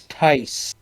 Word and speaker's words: Theis: Stuart, I want to correct you on the pronunciation of that last name because my wife's last name is the same. Interesting. It's Tice.